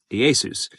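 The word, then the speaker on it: Ἰησοῦς: And it's why a century later, as knowledge of Aramaic and Hebrew pronunciation vanished, Yeshua is now known as his name was pronounced in Greek, Iēsous.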